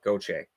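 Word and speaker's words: Gaucher: chase so it's spelled it's pronounced the same as gautier pronounced spelled the other way goche okay all right so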